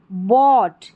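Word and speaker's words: bought: यहां पर जी एच जो है वो साइलेंट है। ठीक है? ओ यू को ओ पढ़ा गया है। बॉट बन गया। इस बॉट में जी एच साइलेंट है।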